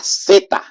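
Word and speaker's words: zeta: be the Z Ora seta that is the name in Spanish for this letter seta and that will be the pronunciation like a strong s in English and that will be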